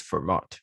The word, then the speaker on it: Fermat: Should be pronounced as Fermat.